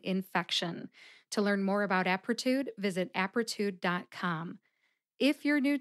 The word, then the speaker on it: Apretude: three syllables aptitude aptitude the first syllable app gets the emphasis let's see if you can hear it aptitude aptitude how did I know